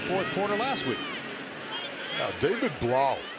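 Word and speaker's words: Blough: win in the fourth quarter last week David Blau rhymes with Kyle you know how much I like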